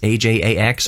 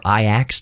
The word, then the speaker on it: Ajax: a konami game called ajax ajax or iax depending how you want to pronounce that word it's like a hell